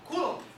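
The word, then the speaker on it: coulomb: o nome desse cezinho coulom se escreve coom mas a gente não lê aquele ouu ali é coulom beleza e também se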